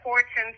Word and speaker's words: Horton: Her name is Aane and her last name is Horton Starks. It's hyphenated. Okay. Horton Starks.